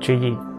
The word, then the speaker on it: Chuyi: Hi, my name is Chuyi, pronounced it in Hmong, Chuyi.